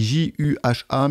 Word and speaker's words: Juha: Donc, Juha, ça s'écrit J-U-H-A, mais ça se prononce Juha.